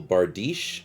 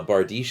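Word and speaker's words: bardiche: head with the beautiful bardeesh i do appreciate the pronunciation help uh bardish seems to be the right way to say it uh 215 for igor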